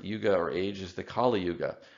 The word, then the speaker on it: Kali Yuga: And then the 4th Yuga or age is the Kali Yuga. This is actually pronounced differently. It's not the same as the goddess Kali, so it has a different unrelated meaning.